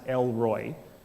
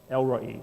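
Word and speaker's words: El Roi: say R oi Roy and most people would pronounce it l Roy which kind of sounds like a dude from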